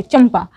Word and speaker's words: चंपा: चंपा, चंपा लिखना है उर्दू में तो कैसे लिखेंगे, ध्यान से देखिए, यहाँ पर चंपा है, ऊपर बिंदु वाला ना है लेकिन इसको माँ प्रोनाउंस किया जा रहा है, यानी कि चंपा